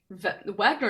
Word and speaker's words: Wagner: Wagner is pronounced Wagner because, bro, I didn't take German.